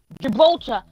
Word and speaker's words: Gibraltar: No, it's Gibraltar, and then if you want to shorten it, it's Gibby. Okay, which makes no sense.